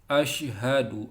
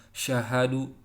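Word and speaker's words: أشهد: itu kemudian yang kedua lafadznya asyhaduallailahaillallah ya diingat membacanya ya harus betul asyhadu alla ilaha illallah Sin besarnya jangan lupa Asyhadu bukan Syahdu Ashraf alias Aduh tapi ashlunnya di sudah diingat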